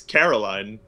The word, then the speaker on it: Caroline: It's Caroline. It's like you're putting emphasis on like the wrong part of the word for an English speaker.